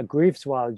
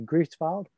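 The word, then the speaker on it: Greifswald: he's at the uh grieves wild university i'm not sure i've said that correctly grief filed how do you say it thomas i think it's cripe's fault but that's the very german pronunciation at that time christopher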